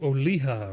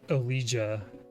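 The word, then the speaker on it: Olija: right game number four oh oliha right i don't think it's not elijah that that would be pronouncing it wrong i think it's oliha so the fourth game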